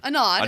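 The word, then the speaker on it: Anod: now zore calls out a nod or a nod a nod it's always the second syllable I guess okay a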